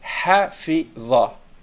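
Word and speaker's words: حَفِظَ: La ligne en haut, c'est la fatha. Donc, on la prononce dha. Donc, ça fait hafidha.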